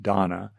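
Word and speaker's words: dāna: in Sanskrit um is loosely is donna I think typically pronounced donna that's how I've heard it which translates as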